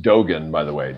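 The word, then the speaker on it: Dōgen: he brought that soto soto and i here pronounced dogen by the way dogen zinji yeah actually it's a chinese it's taoien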